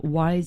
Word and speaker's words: Whys: and his podcast is called Wise Advice, but it's spelled WHYS, Wise Advice, and it's on the podcast.